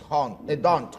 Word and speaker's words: D'Hondt: Sí, lo que pasa es que la pronunciación es D'Hondt. D'Hondt, correcto. Porque tiene una D adelante.